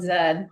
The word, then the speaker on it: Z: And you pron you know you have to say zed segments because that's the way it's properly pronounced everywhere else in the world. I I love zed zed segments.